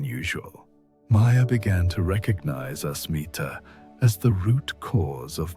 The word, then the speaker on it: asmita: The ancient texts have a specific term for this tendency: asmita, pronounced asmita, which is often translated as ego or I